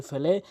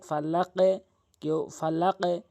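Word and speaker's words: فلق: মাঝখান থেকে পেশ অধিকাংশ লোক জু বলে জিমের উচ্চারণ করে ফেলে এখানে আপনি জিহ্বার আগা দাঁতের আগা থেকে উচ্চারণ করবেন এখানে অধিকাংশ ফালা কেউ ফালা কোনটি সঠিক এখানে বলতে হবে ফালাক কেননা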